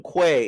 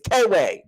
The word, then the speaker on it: Kway: walking to class kway which they keep pronouncing him Quay it's Kayway blame it on kway